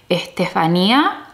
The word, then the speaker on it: Estefanía: They don't say Stephanie in Spanish. That's not how they say it. In Spanish, they say Estefanía, okay, or Estef.